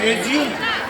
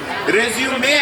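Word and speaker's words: résumé: Generally, all people say resume. Resume, I said, sir. That is correct one, sir.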